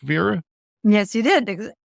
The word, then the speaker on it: Veera: Did I get your name correct, VEERA? Yes, you did. Correctly pronounced, yes.